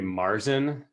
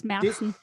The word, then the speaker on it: Märzen: It's a Marzen. That's probably not the right way to pronounce that, is it, Lisa? Yeah, it's close enough. It's Märzen.